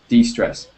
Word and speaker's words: distress: distress okay be careful be careful because there's two words there's distress and there's d-stress and they both have different meanings yeah and be careful with the pronunciation that's why I me I'll mention it now Hugo do you know